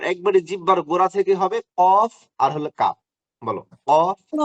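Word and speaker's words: ق: ঠিক আছে, আর একবারে জিহ্বার গোড়া থেকে হবে কফ আর হলো কাফ। বলো কফ কাফ, অফ জিহ্বার গোড়া কাফ।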